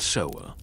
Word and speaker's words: sewer: So a procession of servants led by a solemn official called the sewer pronounced sewer. Thankfully not the other way would carry these covered dishes through the halls.